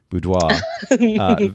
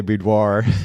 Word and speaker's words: boudoir: By the way, I have to compliment you on using the French pronunciation boudoir versus what we normally say boudoir, which is, it reminds me.